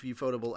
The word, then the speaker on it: Ufotable: So Ufotable or UFO Table, if you want to pronounce it the way that they're quote on playing, but Ufotable was suspected